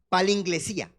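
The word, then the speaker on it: παλιγγενεσία: Palinglesía, esa es la palabra, así se pronuncia, palinglesía. Pueden escribirlo, palinglesía, como yo lo pronuncio.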